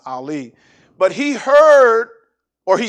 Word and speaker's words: Eli: name was ali but in the bible they say eli but it's pronounced ali but he heard or